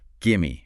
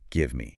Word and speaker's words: gimme: Gimme, as in give me. Exactly. In casual speech, give me gets squeezed into gimme, gimme a burger, gimme a beer.